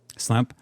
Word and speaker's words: Slemp: We're here with Slemp, if I'm pronouncing that correctly. Slemp. Slemp.